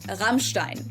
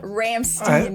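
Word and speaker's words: Rammstein: In German his name is pronounced Ibat Einstein and the band is called Ramstein not Ramstein as many people believe.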